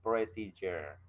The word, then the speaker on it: procedure: yaitu teks presijer ini khususnya procedure dibacanya presijer ya ada levelnya 8ad label